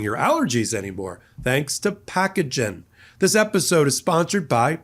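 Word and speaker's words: Pacagen: Thanks to Packagen. This episode is sponsored by Packagen. That's P a ca ge, pronounced packagen.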